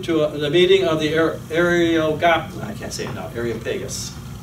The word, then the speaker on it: Areopagus: Then they took him and brought him to the meeting of the Areopagus. That's not right. I'm not saying it right. Areopagus.